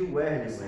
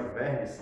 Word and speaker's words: Werlisson: Eu gosto de chamar o meu amigo aqui de Werlisson, mas agora que eu aprendi que o nome dele com W se pronuncia Verlisson, né?